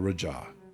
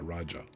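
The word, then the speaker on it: Rajah: You're saying it basically, yeah, Raja. It's a Raja. It's not a Raj.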